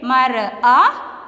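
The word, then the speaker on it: مرأة: We will not pronounce this letter. We can read mar'a, but you should write ta.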